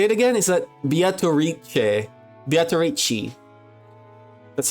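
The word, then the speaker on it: Beatrice: what do we say it again is that beat bichi that's how they pronounce it all right well ladies and gentlemen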